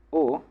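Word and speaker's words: を: de gagana como W pero siempre lo van a pronunciar como o porque en el japonés moderno esta sílaba Para lo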